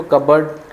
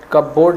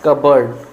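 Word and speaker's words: cupboard: is called as कबर्ड spelling में कपबोर्ड होता है बट इसको कबर्ड कपबोर्ड नहीं बोला जाता है इसको बोला जाता है कबर्ड कंटिन्यू बोला जाता है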